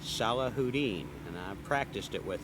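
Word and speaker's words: Salahudin: Just underneath that pronounced Salah Houdin. And I practiced it with him earlier. S A L A Hu D I N. Salah Houdini.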